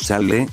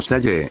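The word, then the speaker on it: sálle: Naturalmente, pronunciaríamos salle, pero sabemos que con las dos L's juntas se pronuncia la fuerza como salle, lo cual le quita todo el sentido a la palabra que buscamos.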